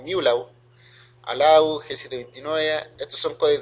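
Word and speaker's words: μ-law: GSM, ULAW, se pronuncia como MULAW, ALAW, G729, estos son codecs de video, que lo vamos a ver un poquito más adelante.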